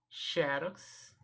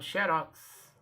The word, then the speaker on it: xerox: Mas existem também palavras de dupla pronúncia. Há possibilidade de 2 pronúncias. Então, eu posso pronunciar tanto Xerox, como Xerox, ok? Xerox ou Xerox. Essa palavra tem dupla pronúncia.